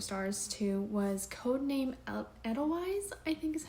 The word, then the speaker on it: Edelweiss: The other book that I had that I gave 4 stars to was Codename Edelweiss, I think is how you say it.